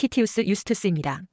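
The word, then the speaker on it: Titius Justus: 라틴어 발음은 티우스 유스트스입니다.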